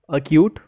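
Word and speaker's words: acute: Letter के एंड क्यू, यानी कि अगर के और क्यू से पहले सी आएगा तो सी जो है वो साइलेंट हो जाएगा।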